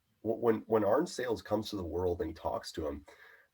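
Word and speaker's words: Arne-Sayles: Arnsales, yes.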